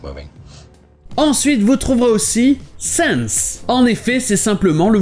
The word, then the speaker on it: sans: Vous avez le son A, mais c'est souvent prononcé avec le son un peu plus E, man. Et bien là, c'est pareil avec sense.